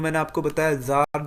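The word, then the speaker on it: Tsar: इनको जार या फिर जार भी कह सकते हैं टी साइलेंट होता है इसमें इसके बाद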